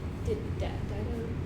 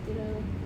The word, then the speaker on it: Dido: It's actually Dido. Dido. But it's a long I in the Latin, which would be Dido. But we have a long I in English, and so people mostly say Dido. You can do either one. Dido is more familiar. People recognize it by Dido.